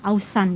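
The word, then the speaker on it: אָזַן: perhatikanlah di sini Hai di dalam bahasa aslinya itu adalah outside pelafalan itu adalah Hauzan ya artinya itu beri telinga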